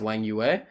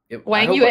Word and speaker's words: Wang Yue: we looked at, when Midyarov was black against Wang Yue. And am I saying that remotely correctly, by the way? I think I'm like... Wang Yue, you're killing it.